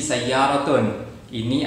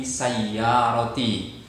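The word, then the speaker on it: سيارتي: yang awal tadi, hadhihi sayyaratun. Ini adalah sebuah mobil. Tapi ini mobilnya diberikan tambahan kata ganti menunjukkan kepemilikan. Hadhihi sayyarati. Awalnya sayyaratun kemudian plus ya, sehingga tidak bisa dibaca sayyaratuni, tidak, tapi sayyarati.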